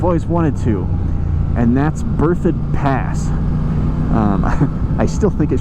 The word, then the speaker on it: Berthoud: before but i've always wanted to and that's birthed pass i still think it should be pronounced burt out but i understand that it's birthed and that is a road that leads north